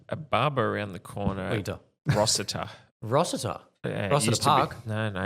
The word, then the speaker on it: Rosita: The I is not an E. The S is not a Z.